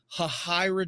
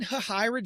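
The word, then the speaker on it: Hahira: Just north of Aldasta, there is a small town, and I think I'm pronouncing it right called Hahyra, Georgia, spelled H A H I R A. And in Hyra, Georgia, I noticed in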